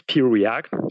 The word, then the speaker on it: Preact: One is Preact, so it's just the letter P, like Peter, Preact.